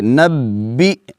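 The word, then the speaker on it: نَبِّئْ: با حمزہ زیر بی, اس کو جھٹکے کے ساتھ پڑھیں گے. نبی, نبی, حمزہ کو جھٹکا دے کر.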